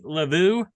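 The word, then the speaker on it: Luvu: Elite Joe Flacco, 26 points, followed by Panthers linebacker Frankie Lavu.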